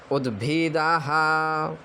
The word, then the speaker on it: उद्भिदाः: क्रतवो जन्तु विषवातो, विषवातो दब्धाशो, दब्धाशो अपरीताश, छोटा सा है अपरीताश उद्भिदाः, उद्भिदाः। यहाँ पे दा में हलंत लगा है अर्थात दा आधा है तो हल्का सा उच्चारण करें उद्भिदाः, उद्भिदाः, उद्भिदाः।